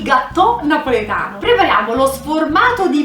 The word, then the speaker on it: gattò: il gateau di patate comando con due tir con l'accento sulla o quindi non rinviato francese ma il gatto napoleta prepariamo lo sformato